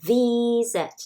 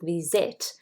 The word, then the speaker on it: visit: constant vowel consonant but then distressed syllable is v not say it you say v set not visit so you don't need